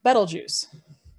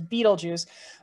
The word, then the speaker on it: Betelgeuse: temperature is the star betelgeuse i know many people mispronounce it as beetlejuice but no notice it only has one e right after the b so like the word bet so bet l so